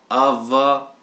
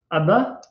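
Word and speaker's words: ⲁⲃⲃⲁ: T'es sûr que ça se prononce Ava, donc Abba? Il y a Ouais, deux, ça s'écrit de deux façons, soit A alpha vita vita alpha ou alpha pi alpha. Tu vas trouver les deux fois, ça s'écrit différemment dans dans les livres coptes. oui, c'est vrai. Oui, oui. Donc du coup, il y a les deux prononciations.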